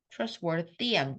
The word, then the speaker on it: trustworthy: But a trust trustworthy 뭐야? trustworthy trustworthy 아니고요. trustworthy the 울림소입니다.